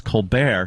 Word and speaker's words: Colbert: If you can get Americans to say a silent T regularly, I think that's impressive. Rapport. Jimmy actually once yelled at me. He goes, "It's report," and I was like, "No, Jim. See, because it's Colbert, he says it rapport."